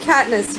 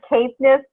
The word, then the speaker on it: Caithness: All right, Erin of Caithness, you are up. It's actually Caithness, but that's okay. You're not the first one to mispronounce that.